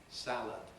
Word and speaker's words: salad: kind of english because in a word like valid i have a different vowel from what i have in salad salad ends in lud valid ends in lid australians typically say valor